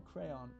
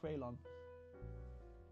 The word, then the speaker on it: Kraylon: Kraylon or Crayon? No, Kraylon.